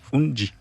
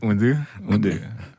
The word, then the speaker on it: Unde: Unti. Non, pas vraiment, c'est Unde.